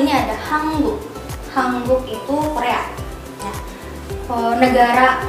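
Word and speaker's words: 한국: Lanjut yang nomor 2 ini ada Hanguk. Hanguk itu Korea. Nah, negara Korea itu bahasa Koreanya Hanguk. Jadi Hanguk plus sarang jadi Hanguk sarang. Hanguk sarang. Tulisannya HANGUK tapi dibacanya jadi Hanguk.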